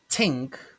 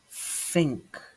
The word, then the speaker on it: think: It's not tink, tink, but think, think.